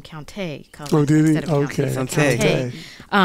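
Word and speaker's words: Countee Cullen: I've heard now that he pronounced his name Counte Cullen.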